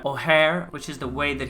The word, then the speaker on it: Ojer: the Gods and that they shouldn't be oer but rather oare which is the way